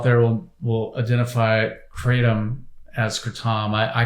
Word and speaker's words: kratom: And I think a lot of people out there will identify Kratom as kratom. I call it kratom because it's the correct pronunciation is a Thai word.